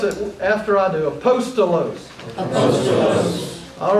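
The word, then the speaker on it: ἀπόστολος: The first word is aposttolos. Aposttolo. It is the word that we get our English word apostle. Aposttolo.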